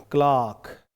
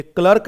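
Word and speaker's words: clerk: देखो ऐसे दिख जाएगा, क्लार्क दिख रहा है क्या? ये रहा इसका प्रोनाउंसिएशन। आई थिंक अब आपको दिख रहा होगा, क्लार्क, ओके। ये क्लर्क नहीं होता, इट इज क्लार्क।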